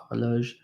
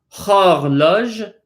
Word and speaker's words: horloge: Horloge, not it's hard to say with an H. It's not horloge, but horloge.